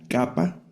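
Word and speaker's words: κάππα: La esta y la capa, que es como nuestra k de kilo.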